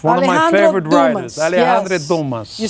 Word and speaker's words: Alexandre Dumas: Alexandre Dumas.